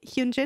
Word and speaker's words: Hyunjin: Do I pronounce it correctly? Hyunjin?